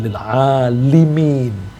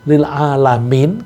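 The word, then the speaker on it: lil 'alimin: Hati-hati, ini bacanya bukan lil alamin. Kalau lil alamin untuk alam atau orang seluruh dunia. Tapi di sini alimin. Kalau alimin orang yang berilmu.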